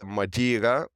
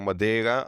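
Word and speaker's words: Madeira: go and that is madira this is the English pronunciation or Madera Islands uh it's a Portuguese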